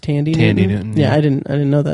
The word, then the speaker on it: Thandie Newton: But probably my biggest issue with the entire season was the Maeve plotline with Thandie Newton, who apparently her name is pronounced Tandy Newton.